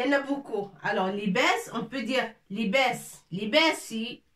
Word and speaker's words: لباس: لباس. كسرة تحت اللام لكي ننطق لي، فتحة فوق الباء لكي ننطق باء، avec ألف صافي باء، تنوين فوق السين لننطق سن.